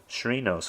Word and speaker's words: Chirinos: Robinson Chirinos, almost like Doritos.